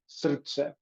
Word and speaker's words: srce: this specific language is you have to treat the R as if it has an U or a vowel in front of it, so it's pronounced srce.